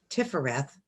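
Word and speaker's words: Tiphareth: the strength card to the heart then you pronounce this one tiffareth and it means beauty but we can think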